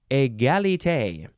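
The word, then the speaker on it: égalité: get the pronunciation correctly egalite yes uh this is clearly French and it is spelled e-g-a-l-i-t-e and the E's the first one and the last one both have the accent that is down on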